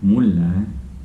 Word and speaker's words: mulle: When you're saying next one, murre and Murre, mulle, mulle, very different, yeah.